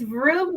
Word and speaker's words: Vroom: It's vroom, like, well, the vroom, like, gentlemen start your engines.